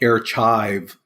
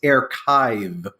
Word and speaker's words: Airchive: pronouncing it correctly because Jason always was like air chive because that's how it spelled like you mean like the onion you mean like like something that differ I'm like no it's achive yes I got the play on words so